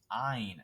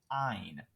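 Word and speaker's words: -yne: when we change the triple bonds we use ein not wine i guess or however we also want to try and pronounce it it's pronounced ein so ein would be the proper way to do this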